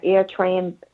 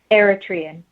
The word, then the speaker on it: Eritrean: when you you said you were from an air train background am i pronouncing that correctly eritrean aerotrain that's south africa east africa it's uh